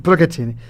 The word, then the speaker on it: Procaccini: Y me encontré, lo voy a pronunciar mal, porque siempre lo pronuncio mal, que es Luciana Procaccini. Sí, muy bien, lo dije bien. Bien italiano. Bien, Procaccini.